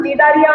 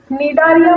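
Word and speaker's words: Cnidaria: है, मैंने बताया था, निडारिया में सी साइलेंट है। तो second phylum is phylum निडारिया या फिर फाइलम सिलेंटेरेटा। निडारिया बोल रही हूँ मैं, सी साइलेंट।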